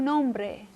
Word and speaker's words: nombre: Su nombre. Okay. A key is to soften your R's a little bit. Instead of nombre, nombre, like a bre, almost like a D sound to it.